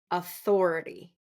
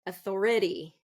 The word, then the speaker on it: authority: the word authority authority so Authority is going to be second syllable stress sometimes I hear it authority authority so third syllable stressed and that would be incorrect authority authority no we don't want that we want Authority author Thor authority authority okay who has authority to